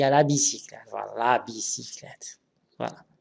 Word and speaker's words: bicyclette: Alors, les yeux brillants, moyens, il y a la bicyclette. Voilà, la bicyclette. Voilà. Il y a Y ici, mais il se prononce comme I.